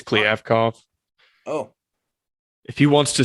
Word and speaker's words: Kliavkoff: Since Pac-12 Commissioner George Kliavkoff, whose name I think I butchered, I thought it was Kliavkoff. Yeah, apparently it's Kliavkoff.